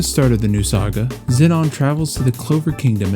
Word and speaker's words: Zenon: The first goes by the name Zenon. Xenon if you're American, but I typed it into Google Translate and the Japanese pronounce it Zenon, so we're going with that.